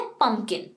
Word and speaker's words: pumpkin: इसका स्पेलिंग है PUMPKIN, बट जो दूसरा P है ये साइलेंट होता है, पंपकिन नहीं कहते हैं, पंपकिन नहीं, वी कॉल इट पम्पकिन। जो दूसरा P है उसका साउंड नहीं है, वो नॉन एग्जिस्टेंट है, इट्स पम्पकिन।